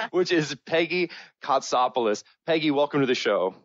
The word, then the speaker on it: Kotsopoulos: awesome name which I hope to god I pronounce correctly which is Peggy costopoulous Peggy welcome to the show thank you and